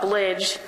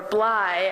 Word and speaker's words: Bligh: the only person who thought Blige or Bligh as he often reminded me was the proper pronunciation was an appropriate name